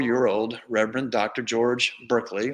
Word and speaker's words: Berkeley: old reverend dr george berkeley or barkley as it would have been pronounced then and his new wife